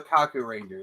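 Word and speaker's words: Kakuranger: like okay okay yeah now that you can hear the K I think you're like okay I mispronounced it but like um no no no they're called the Kaku Ranger sorry um I'm I'm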